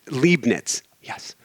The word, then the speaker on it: Leibniz: act before that who was and i completely butchered his name at the beginning we're going to go for it again gottfried wilhelm leibniz leibniz yes okay leibniz or whatever is a german philosopher